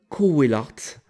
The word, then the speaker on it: Cauwelaert: qui s'appelle Didier Van Cauwelaert. Je sais pas si je prononce bien, hein, je m'excuse pour lui. Alors c'est pas Coe, c'est Cauwelaert. Ça s'écrit Cauwelaert.